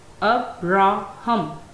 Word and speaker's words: Abraham: It has three syllables, and you can see the primary stress is on first syllable. First syllable has the primary stress, second syllable is unstressed, and third syllable has secondary stress.